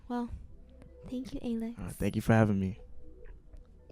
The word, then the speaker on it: ALX: It's pronounced ALX, though. So, yeah. Not ALX. ALX. ALX. All right. Well, thank you, ALX.